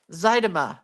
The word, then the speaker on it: Zydema: Zedima. I don't know. Zydema. That's what it is. Like Zydeco. Zydema.